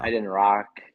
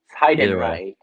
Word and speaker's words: Heidenreich: Heidenrock or like Heidenreich is the right.